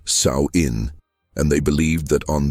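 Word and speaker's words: Samhain: The Kelts called this transition Samine, pronounced Saoin.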